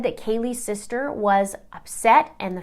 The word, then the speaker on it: Kaylee: Count 3, murder in the first degree of Kaylee Goncalves. Now, during the hearing, the judge pronounced her name wrong and kept saying Kayla.